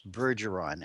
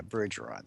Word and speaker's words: Bergeron: Well, not to correct you, but it's Bergeron Bergeron. with a soft G. Yeah, Bergeron.